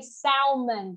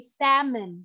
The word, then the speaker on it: salmon: Why this word is commonly mispronounced is because of that L. This yeah, is because a- of that L, like he said, right? Because of letter L. Some of you might say salmon, but it's actually not salmon. It is salmon. Salmon. Ah, the pronunciation. It's salmon. Okay. Salmon. Mm-hmm. Silent L. So you can forget about it.